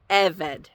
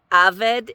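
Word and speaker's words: עֶבֶד: And so that tells you that this is a segelet noun. And that means that the stress is on the second to last syllable. So eved, eved.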